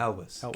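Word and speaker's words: Cary Elwes: How do you say his last name? Elvis. Elvis. Yeah. Elvis. Carrie Elvis.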